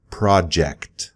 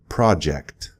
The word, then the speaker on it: project: It's similar to the pronunciation of that type of airplane that goes really fast. A jet, J-E-T, that j sound. Project. You just simply throw in a C in there.